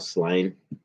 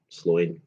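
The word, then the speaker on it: Sláine: And um one of my favorite comics was Sloin. And um or Slain. Sloin. Sloin's the way you pronounce it.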